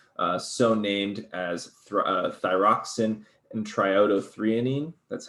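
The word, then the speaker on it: triiodothyronine: t3 and t4 so named as thyroxine and triodo threonine that's how you say that one that's a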